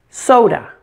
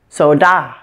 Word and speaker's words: soda: as I say it soda the first again soda are you hearing it if I say it stressing the second part do you recognize the word so da what if I pronounced